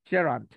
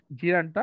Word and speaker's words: gerund: হ্যাঁ, জেরান্ড, জি বলা যাবে না, জে, জেরান্ড তাহলে হচ্ছে জেরান্ড।